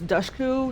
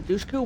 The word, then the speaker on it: Dushku: we had Elijah Dushku, whose name I pronounced wrong my entire life. I'm pretty sure it's Dushku, not Dushku.